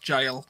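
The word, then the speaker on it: gaol: Kindle as well said uh the jail is pronounced jail j-a-i-l uh-huh I hear so many people call it the girl though to be fair because it spoke with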